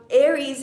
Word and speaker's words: Eris: Actually, Aries, and it's spelled E-R-I-S, Aries is actually, her diameter is actually 1,444 miles in diameter.